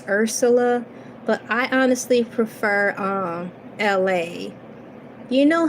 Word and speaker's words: Elay: So Who you see now is LA, pronounced like LA, like the city.